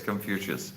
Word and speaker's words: Confucius: in the You mean Confucius? Uh is it Confucius in English? Con- Confuci in Russian. Ah, okay. Okay, it's Confucius. Confucius.